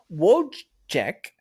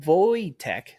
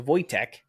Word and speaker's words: Wojtek: Wojciech, pronounced Wojtek, so Wojtek, the Polish soldier bear was a real bear and has many memorials in places across Europe.